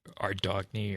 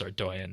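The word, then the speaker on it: Ardougne: the bargain yeah it's gonna go down in pronunciations like whether it's ardoian or our dog knee or whatever people say but we know it's our doian now and I feel like that one just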